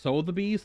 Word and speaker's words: Sotheby's: mannequin was sold at sotheby's auction house in 1993. that's pronounced so the bees throw the buy sold